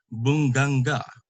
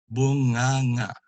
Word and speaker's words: bunganga: He always wants to say the NG separately. So like this word, he would always say bunganga, but you really pronounce it bunganga, which is the word for mouth, bunganga.